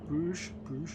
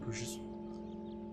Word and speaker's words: Bruges: At the end of this turn, it looks like we'll probably have to deal with the battle at Bruges. Or Bruges, not Bruges.